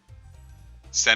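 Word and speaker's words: 戦: Sen is how you pronounce war in Japanese.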